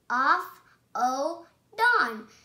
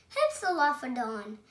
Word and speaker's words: Hypsilophodon: I'm going to tell you how to pronounce it. Hypsilophodon. Hypsilophodon.